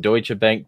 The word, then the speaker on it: Deutsche Bank: Like, out of everything else, is that you pronounced it Reuters when you just pronounced Deutsche Bank, Deutsche Bank.